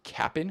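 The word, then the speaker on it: Cap'n: but it's so cap so it's not Captain Crunch it's Capp crunch so capap apostrophe n you have to say it like that so it's Capp Crunch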